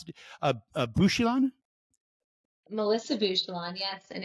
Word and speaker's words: Bouchillon: dedicated Community leader please welcome Melissa do I pronounce it bushelon Melissa bushelon yes and it's um it's nice to be